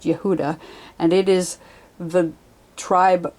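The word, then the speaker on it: יהודה: The letter He is connected to the tribe of Judah, which is pronounced Yehuda, and it is the tribe from which the name Jew or Jewish comes.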